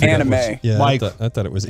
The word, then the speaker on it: anime: I don't think so but Benson oh it's pronounced anime yeah I thought it was we're your teammates